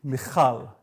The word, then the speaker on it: Michal: I love that you pronounce my name so nicely. Thank you. Michal.